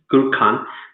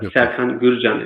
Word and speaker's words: Serkan Gürcan: You call it in English Gürkan, but Serkan Gürcan is the proper pronunciation.